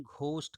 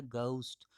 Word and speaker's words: ghost: बहुत सारे लोग प्रोनाउंसिएशन घोस्ट करते हैं, जो कि बिल्कुल गलत है। ये होता है घोस्ट। अब GH को घ नहीं पढ़ना है, क्योंकि घ साउंड अंग्रेजी में नहीं है, बिल्कुल नहीं है।